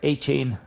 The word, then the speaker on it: Achane: Tank Dell is in there, Zay Flowers, Devin Achane, or A-Chain as he's pronounced.